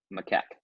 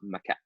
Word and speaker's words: macaque: They tested it on macaque monkeys. Here, I had to look up the word. It's this word right here. And if you look up how to pronounce it, it's pronounced macaque.